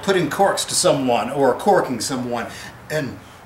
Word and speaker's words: calking: corks to someone or corking someone and pronounced like cork like wine cork even though it's spelled c a l k or corking c a